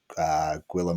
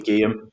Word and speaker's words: Guillaume: We obviously had Gwillem, although I always pronounce his name incorrectly, so I'm just going to say Gwillem It would because be Guillaume.